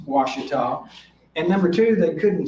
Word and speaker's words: Ouachita: the east coast writers number one they couldn't pronounce washita and number two they couldn't spell it unless